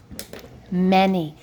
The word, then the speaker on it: many: why it's not funny it rhymes with any any and many rhyme okay that's your other